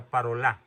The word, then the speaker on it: Parolin: parolin que les parol es de origen francés se pronuncia parola escribe parolin el cardenal parolin ya les